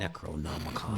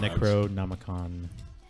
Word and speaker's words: Necronomicon: Necronomicon. Necronomicon.